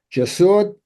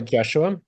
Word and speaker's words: Jesua: Uh, Jas. Did I pronounce the first name correctly? Yeah, I go by Joshua.